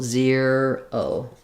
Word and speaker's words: zero: Basically, you can say ze- ro or zer- o, but basically you have to go from the e to the r to the o all together. So, thinking about like euro, euro, um, making sure you can do that glide.